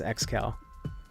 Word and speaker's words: Excal: Do you pronounce it Excal or Excal? It's Excal.